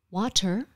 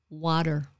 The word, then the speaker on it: water: okay anyway so naomi in between your high key vowels you have to change it from a t sound to a d sound that's part of the american accent so it's not water it's water strategy it's not strategy